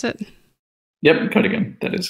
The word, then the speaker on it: Cuddigan: Is that how you pronounce it? Yep, Cuddigan.